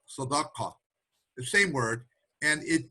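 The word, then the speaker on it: صدقة: Let me pronounce it properly in Hebrew, tzedakah, and in Arabic, sadaqah, the same word.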